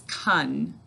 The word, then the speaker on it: country: bit hard to hear it's kun it's not just ka it's kun all right and our second